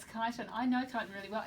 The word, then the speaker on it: Kyneton: I'm not even sure how to pronounce it. Kyneton. Kyneton, is it? Yeah, it's Kyneton.